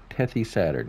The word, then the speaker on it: TethysSaturn: and poplar by uh tayus take tethy saturn tethy saturn yes that's how you pronounce it 7.95 megabytes to download and eight